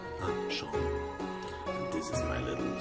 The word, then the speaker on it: Seam: The name's Seam, pronounced Sean. Ah, Sean.